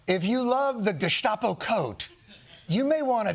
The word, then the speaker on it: Gestapo: I'm Gestapo. In America, we pronounce it Gestapo.